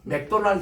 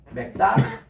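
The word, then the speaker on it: McDonald's: 내가 스프링 써주면서 이걸 하니까 아 이러면서 이분들이요 맥은 소리가 아주 약해요. 다만 요게 강해요. 맥다나 요게 이제 바로 발음이에요.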